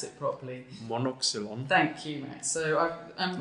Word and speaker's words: Monoxylon: So you tell me, Max, how I pronounce it properly. Monoxylon.